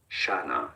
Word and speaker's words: Shana: are different pronunciations, but clearly the most common one in English is as Shana. This is a name of Hebrew Shana.